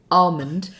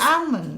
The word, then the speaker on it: almond: say the word Armond there's the correct way almond and then there's the way you say it which is Alm which is wrong so I had people